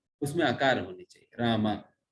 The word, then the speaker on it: राम: उसमें आकार होनी चाहिए रामा। तो उसमें कहते हैं हरे कृष्ण कृष्ण कृष्ण हरे हरे, हरे राम राम राम हरे हरे। वो रामा सही संबोधन है, आकार होनी चाहिए, तब वो सही उच्चारण है।